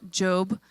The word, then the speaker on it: Job: a book named job it's spelled like job but his name is job okay and job lived